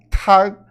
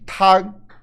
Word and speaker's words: tang: Começa a letra T, ela vai ser um pouquinho diferente do português. A gente vai falar soprada. Tag.